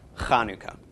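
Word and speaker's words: Hanukkah: just spelled H so people think it's Chanukah but it is in fact Kanu Co not that big a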